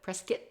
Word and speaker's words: Prescott: Somebody maybe Marshall Trimble wrote a book called They call it Prescuit spelled like Yeah. Interesting. Although my dad grew up saying Prescott and I and he's absolutely an Arizona native.